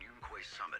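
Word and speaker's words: Yunkui Summit: Whenever a crisis strikes, she and Yunquay Summit have proven to be reliable partners. Yunquay Summit. That is how it's pronounced.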